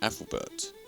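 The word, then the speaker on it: Æthelberht: Just like this word is pronounced as Ethelbert, with Albert being the modern English version.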